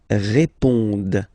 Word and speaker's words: répondent: Ils répondent. So same thing, here classic ending, ENT, but then you don't pronounce it.